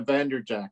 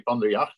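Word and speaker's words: van der Jagt: way it's spelled actually in Dutch we would say from the yacht but no one can ever say that so I just anglicized it and say vanderjack Andrew Jack okay I would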